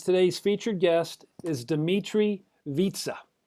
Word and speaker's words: Vietze: featured guest is dimitri vitsa yes it rhymes with pizza born in nashville dimitri